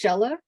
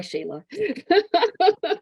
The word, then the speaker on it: Sheila: It's actually pronounced Shella, but I grew up here in Utah, and it's a lot easier for people to say Shayla. It's just, so I go by Shayla.